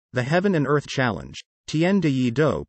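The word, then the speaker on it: 天地一鬥: jae chow's single the heaven and earth challenge tienda yee doe pronounced tnde do the proceeds for downloads of both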